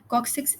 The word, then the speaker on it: coccyx: join to form coccyx cocc six is basically your tailbone and it it gets a little bit hard to pronounce it as let's spell it but just remember it's six uh so um over